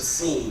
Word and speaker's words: Sin: Into the Wilderness of scene okay this is not sin and it's it's spelled s-i-n it doesn't mean sin like you have in the Bible it's just the name for that area and so they're traveling